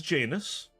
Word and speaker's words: Janus: You'll hear many versions of this pronunciation, but I am told it is Janus.